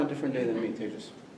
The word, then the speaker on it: Tejas: Tejas.